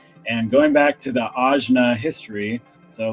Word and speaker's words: Ajna: And how do you say it? Ajna. Ajna. Okay, I would say third eye or Anja, which apparently I've been saying it wrong this whole time. Ajna.